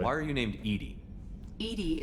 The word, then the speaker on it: EDI: are you named Edie Edie is the phonetic pronunciation of EDI um where are you